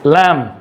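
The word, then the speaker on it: lamb: नाउ लैम्ब, नॉट लैम्ब, इट्स लैम्ब, लिम, okay, B silent है।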